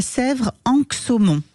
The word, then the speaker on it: Sèvres-Anxaumont: et l'adresse c'est 27 chemin des Bruères à Sèvre anxumon je prononce bien oui voilà parfait c'est parfait ben